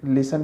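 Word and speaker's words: listen: Right में G silent है, wrist में W साइलेंट है, पाम में L, स्कूल में H, सीजर में C, टीचर में T, लिसन में T, राइम में H एंड R में H।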